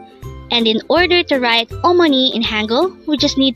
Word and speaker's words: 어머니: word for today is omoni this is pronounced as a three syllable word first syllable is O second syllable is Mo and third syllable is NI pronounce it with meon